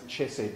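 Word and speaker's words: חסד: it's a relationship word it's a word he said or we pronounce a chess set the chess set of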